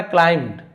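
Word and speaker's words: climbed: Priest है ना यहां पे बी को नहीं पढ़ना क्लाइम्ड। यहां पे देखिए साइलेंट होता है।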